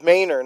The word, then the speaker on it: Manor: So, oh, it's Mayor, not Manor either.